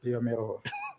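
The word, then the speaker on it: bioMérieux: Pirelli's Italian, because I almost made that mistake just because I got excited trying to figure out how to pronounce Biomeru. Yes, Biomero.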